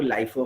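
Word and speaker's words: LIFO: अच्छा, फिर क्या है, ये दो बहुत मशहूर मेथड है, इसको लोग लीफो फीफो भी बोलते हैं, बट जो सही प्रोनाउंसिएशन है वो लाइफो फाइफो।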